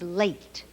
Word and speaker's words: late: Late. Silent E again makes A say its own name. A. Late.